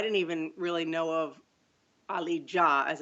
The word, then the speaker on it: Ali Dia: American and I didn't even really know of Ali Jah as it's pronounced not Dia as I know everyone or or Dia as everyone has pronounced uh all these years